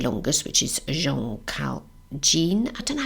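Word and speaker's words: Jeanne: the actual correct pronouncement cuz I hate to pronounce it things wrongly oh I got that wrong it's Jean so Jean calmon um now what I did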